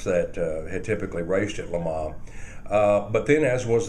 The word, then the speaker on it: Le Mans: heard of Lama in France typically West questioners pronounce it Lans because it looks like that but the French pronounce it Lama and um so 1960 even though the races